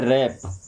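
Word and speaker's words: wrap: वरप ने क्या पढ़ते हैं? रैप।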